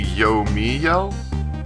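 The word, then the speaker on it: Yomiel: okay so apparently see i can pronounce to get yo meal like I've been separating yo and then meal to get two separate parts but I've been told that it's apparently yo me yell like you basically I guess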